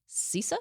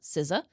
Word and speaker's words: CISA: security bite hackers breach cisa cisa sisa I call him cisa cisa I've heard it pronounced all the different way so cisa forc the